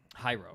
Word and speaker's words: Hayao: Hayao. Okay. it. Hayao? There's no R.